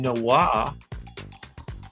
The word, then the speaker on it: noir: The film is drenched in noir and corruption.